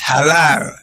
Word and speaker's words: halal: he's not pronouncing what is the right pronunciation sir question just you pronouncing it right just that you calling it It's halal. Okay.